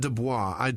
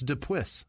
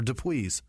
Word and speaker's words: Dupuis: Jerry Hutton, Elizabeth White, Heather Shelley, Ann Nitch, Andrew Dubois or Dubois. There's no O. It's not Dubois. I tried so hard to pronounce. It's Dupuis or Dupuis. Dupuis.